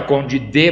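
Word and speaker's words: Conde d'Eu: Se fala Conde D, mas se escreve Conde Deu.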